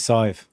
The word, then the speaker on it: Saidhbh: And then like Saive, for example, like Saidhbh is Saive. That's pronounced Saive.